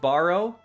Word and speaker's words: Sbarro: I'm just Sbarro? Sbarro? Maybe the S is silent and then it's just Barro. That's it.